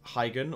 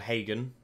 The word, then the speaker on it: Heigan: And next, we're up against Hyen or Hagen as he seems to actually be pronounced.